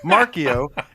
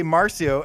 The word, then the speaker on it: Marcio: I'll say Markio, and then you'll say Marcio, and then I called him Marcio for a week, and he's like, "Dude, it's Markio."